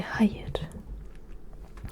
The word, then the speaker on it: hayır: Et non, c'est hayır. Hayır. Hayır. Ça s'écrit H, A, Y, un I mais sans point. Donc un I sans point c'est E, R. Hayır.